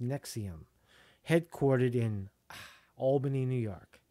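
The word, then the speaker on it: NXIVM: a secretive group called nexium and xiv and pronounced nexium headquartered in Albany New York Wow gotcha gotcha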